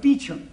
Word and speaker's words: Beauchamp: Calling Mr. Beauchamp. Mr. Beauchamp has been employed by the following firm. It's pronounced Beauchamp.